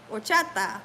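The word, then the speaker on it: horchata: to be totally nuts the H is silent okay okay okay Hara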